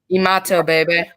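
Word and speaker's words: Imatorbhebhe: how how do you say it it's um imato baby imato baby okay or you or you can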